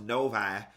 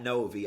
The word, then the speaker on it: Novi: and y'all told me it's pronounced Novi, not Novi.